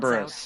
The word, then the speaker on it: Kerberos: It's pronounced and lets out Kerberos.